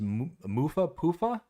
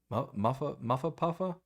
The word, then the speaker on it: Mufa Poofa: I did see another one come in from, I believe you said it was Mufa Poofa Throws? Did I pronounce that right? Muffa Puffa? Yeah, you had it right the first time.